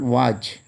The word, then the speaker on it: watch: Next word, watch, W-A-T-C-H. In this word, T is silent.